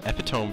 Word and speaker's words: epitome: It's an epitome generic, I'd like to say. Epitome? Epitome. It says epitome. It's epitome. I've heard so many people mispronounce that word, oh and it makes me cringe.